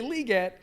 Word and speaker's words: Legette: it's hard though because we've been saying Legette for four straight months and now we need to say liette um but we do